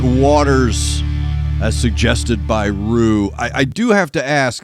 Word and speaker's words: Ruu: Today's Discord server is coming from Rue, R-U-U. Rue is how I'm going to pronounce it.